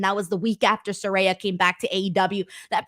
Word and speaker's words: Soraya: know how to pronounce soraya's name me being one of them because I kept calling her Soraya because of the spelling but now I practice and I know it's Soraya um but either way I